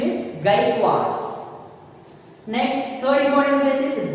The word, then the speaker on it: Gaikwad: Okay, the pronunciation is Gaikwads.